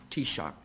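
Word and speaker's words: Taoiseach: in gaic but I've have learned how to pronounce t-shock welcome back to the White House it's good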